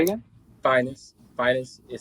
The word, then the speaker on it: Phines: So like the finest. Yes. Yes. Without the T at the end.